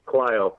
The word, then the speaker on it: Clio: So and it's pronounced, it's Clio, not Cleo, but that's cool. Clio.